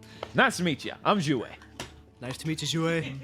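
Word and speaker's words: Xue: That is quite the pronunciation. It's Jouet.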